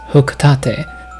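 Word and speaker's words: Hocotate: forward for this video, I will be pronouncing this word as hukate differently than I have in the past. This is in keeping with 111 Hokotate Cho Kyoto, Japan, Nintendo's headquarters and name of inspiration.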